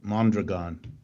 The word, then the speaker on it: Mondragon: Yeah, well, let me correct you about Mondragon, which is, by the way, how it's pronounced.